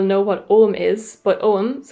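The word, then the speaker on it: Ogham: what om is but om which is spelled o g h m for any of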